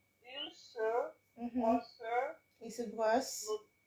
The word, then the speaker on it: brosse: Il se brosse because there's no accent on the last E.